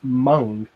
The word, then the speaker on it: Meng: in the previous livestream apparently Meng is actually pronounced Mon hmm only if you